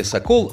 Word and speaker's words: сокол: как сокол известное выражение с ударением слове sokol на втором слоге ударение как раз важно